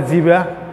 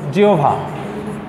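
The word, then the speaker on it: জিহ্বা: একজন এক একভাবে বলে, কেউ বলে জিবা, কেউ বলে জিহব্বা, কেউ বলে, মানে এক একজন এক একভাবে উচ্চারণ করে। সেখানেও আমরা দেখি যে সমস্যা শব্দটা হলো এইটা, এক একজন এক একভাবে উচ্চারণ করে। তাই এটার যে শুদ্ধ উচ্চারণ আছে, এটা উচ্চারিত হবে মূলত জিহোভা, এটা কিন্তু শুদ্ধ উচ্চারণ।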